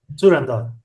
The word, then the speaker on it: Turandot: Maxim, can you pronounce the play? Turandot? Turandot.